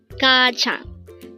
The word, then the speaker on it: 가장: at day hangle word number 359 Kang kajang this pronounce is a two syllable word the first